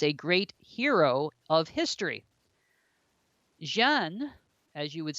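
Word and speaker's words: Jeanne: secular people as a Great Hero Of History Jean as you would say her name in French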